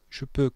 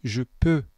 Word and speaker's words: peux: Le X, le S et le T en finale ne se prononcent pas. Ne dites pas je peux, dites je peux.